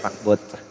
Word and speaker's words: pakbet: Sabi sa Ilocano, ang pakbit daw is pakbot. Pakbot. Ano ba yan? Ano yung pronunciation nila? Pakbet.